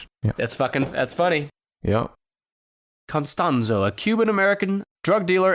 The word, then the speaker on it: Constanzo: by aldolfo de jesus constanzo not costanza but cause constanzo he's getting upset it's aldolfo not jorge oh i get it because you're saying george that's that's funny yeah constanzo a cuban american drug